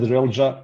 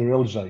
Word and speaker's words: Relja: name correctly because uh you you said real ja and uh everybody calls me relja you know from sounds